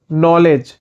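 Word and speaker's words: knowledge: silent होता है जानकारी नॉलेज नॉलेज नॉलेज में के साइलेंट होता है दयालु या प्रकार काइंड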